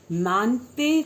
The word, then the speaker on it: Mangte: MC is a full form of Mante Changni Jung. Spelling is Mangte, but you would pronounce as Mante Changni Jung.